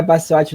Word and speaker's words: Baciotti: O Baciotti, que é Baciotti normal, não tem a pronúncia italiana, não, embora seja não, italiano.